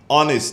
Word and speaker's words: honest: the t is silent honest the h is silent psychology the p is